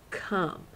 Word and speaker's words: come: I know it's not obeying the phonics rules. You just have to remember there's an O in there, not a U. Come. Silent E at the end too, Mrs.